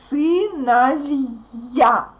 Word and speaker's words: сыновья: Don't pronounce it like vya. No, not сыновья, but сыновья. Okay? There is a sound y. Сыновья. Here we have a vowel, a consonant too, but it works like in the words with kaga. So we don't put y in the end.